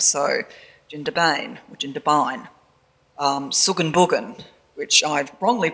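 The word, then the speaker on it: Suggan Buggan: So Jindabain or Jindabain, Suganbugan, which I've wrongly pronounced as Sugganbuggan because that's what it looks like now with the name tags, but it's still in fact pronounced in the Aboriginal way, Suganbugan.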